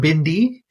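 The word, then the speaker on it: भिंडी: best gymnast because it's bendy look there you go I really like that yeah so for those non-hindi speakers out there yeah uh bendy or Bindi is the pronunciation that's the uh what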